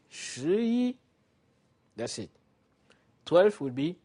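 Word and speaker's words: 十一: 10 will be shi. We saw it. Shi. And 1 is yi. So to say 11, you just say shi yi.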